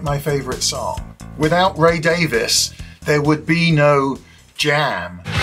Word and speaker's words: Davies: It's Ray Davies. Or to be more precise, Sir Raymond Douglas Davies, CBE. The E is silent.